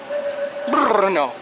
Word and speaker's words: Brno: city thank you no b r n o Bruno it's not cold I got here and it's